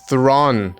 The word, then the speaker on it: Theron: uh starring charlize thrawn everybody calls her charlize theron it's thrawn yeah charlie's the ron that's